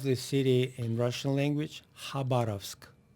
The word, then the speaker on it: Khabarovsk: Yeah, the name of the city in Russian language, Khabarovsk. Khabarovsk. Khabarovsk. Good job. Thank you. Thank Good you.